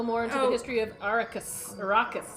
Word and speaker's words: Arrakis: into the history of arakas arrakis that's how they say it in the movie yeah but if it's